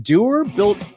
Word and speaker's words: Duer: That's one of the trademarks of Doer, but they're also built to last.